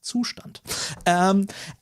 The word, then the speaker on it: Zustand: I'll probably use Zustand, which is a German word. So, hey, the correct pronunciation for this library is Zustand.